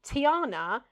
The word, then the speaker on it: Tiana: Tiana and restaurant are all three syllables.